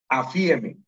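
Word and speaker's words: ἀφίημι: El otro término es afiemi. Se pronuncia como poniendo el acento en la primera I. Afiemi.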